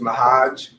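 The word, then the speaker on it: Ma'Hajj: first last name please my first name is mahaj my last name is at the box and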